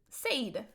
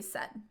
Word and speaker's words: said: the way it's written, you would want to pronounce it said, right? Which was probably how it was pronounced when it was originally written. But we've kind of schwabbed that middle, and now we say said.